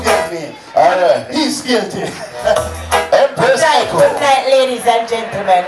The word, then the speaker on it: Empress Eko: She is the one and only Empress. Empress. Make some noise! Like that smile. I love your smile. Empress. It's Empress Echo.